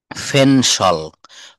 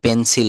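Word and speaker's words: pencil: তো নিচের এই তিনটি এসপিরেটেড একসাথে দেওয়া হলো অর্থাৎ পি সাউন্ডকে ফ এর মত টি সাউন্ডকে এর মত আর সি কে কিউ এই সাউন্ড গুলাকে খ এর মত উচ্চারণ করব কিসের মত উচ্চারণ করব খ যেমন আমরা দেখি ফেনসল ফেনসল আমরা পেন্সিল বলি দোকানে যেয়ে গিয়ে বলি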